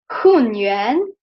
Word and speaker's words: Hunyuan: Because I want first that we pronounce each word by itself, because when we will pronounce it together as a phrase, this tone will change. So it will change in the fourth tone, but for now we will pronounce it separately, okay?